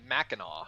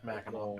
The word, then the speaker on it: Mackinac: Try to pronounce that one, which I'll let somebody else try, and I know the other one is pronounced Mackinac. Yeah, Mackinac.